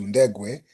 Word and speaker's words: Ndegwe: The second name appeared close to my pronunciation as being more of Bantu, Ndegwe.